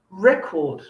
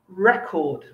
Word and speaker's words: record: you're paying attention this is for words which are the same if they're a verb and if they're a noun with two syllables so for example let me think record record okay two syllables we can say um i bought a record from the music shop or you could say did you record that show notice the difference in my pronunciation okay when we use